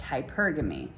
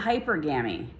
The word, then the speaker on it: hypergamy: to say it right it's hypergamy not hypergamy hypergamy okay so um yeah